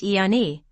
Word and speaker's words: Ayani: Yanas collectives from each of the 3 primal sound fields of the Kundalini energy matrix are collectively called the Ayani, pronounced Iani, or the Ayani Council, both meaning of the Yanas.